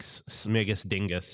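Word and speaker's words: Śmigus-dyngus: Polish but it's like smigus Dingus is like the actual polish way to pronounce the holiday and then polish Americans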